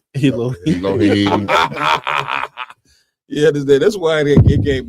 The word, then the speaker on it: Elohim: Oh man, they even got something I can't even pronounce, Cap. Elohim. Elohim.